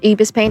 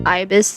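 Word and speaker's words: Ibis Paint: And yes, I know my pronunciation is Ebis Paint as of Ibis.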